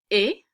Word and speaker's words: est: Il, elle, or on est, we're not pronouncing the S or T.